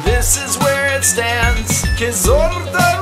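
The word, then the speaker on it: Kyzylorda: Kizorda region, is how you pronounce me.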